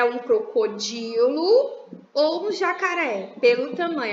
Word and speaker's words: jacaré: é jaca sem aí mas tenta Agudo né na última sílaba jacaré relembre-se que tem aí na última sílaba o acento agudo gente Onde vive a